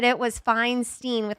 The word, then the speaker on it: Feinstein: Feinstein.